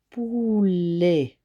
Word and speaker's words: poulet: C'est le son E qui est formé de E-T à la fin du mot. Donc, le son E sera formé à la fois du E qui se trouve juste devant T.